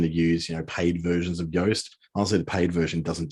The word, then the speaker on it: Yoast: So Yoast is spelled like toast.